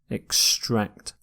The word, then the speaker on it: extract: ending here bouncing extract you stress the second syllable here extract can be used as a verb or a noun but as is often the case with English words we tend to stress the second syllable in a verb when we use this word as a noun we say extract extract so if it's a noun you tend to stress the first syllable in this lecture I'll